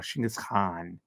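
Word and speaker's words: Chinggis Khan: to go listen to shingus Khan or shingus Khan as they pronounce it all right thank you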